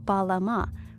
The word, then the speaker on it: balam: that we're meant to read this glyph as balama minus the echo vowel so balam these are phonetic